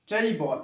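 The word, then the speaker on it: table: আয় শেষ জায়গারে যখন ই তাহানা ইয়া কিন্তু সাইলেন্ট মুড রেয় ওকে টেইবল একচুয়ালি উত্তর হয়ে এখানে টেইবল এবার শেষে যখন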